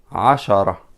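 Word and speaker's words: عشرة: it will be written like that ashara there is no stress here why you said ashara there is no stress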